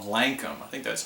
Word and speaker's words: Lankum: of this song was an Irish band called Lankum. I think that's how you pronounce it.